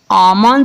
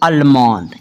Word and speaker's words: almond: ALMOND आमंद इसको पढ़ना है, ना कि अलमंद, क्लियर।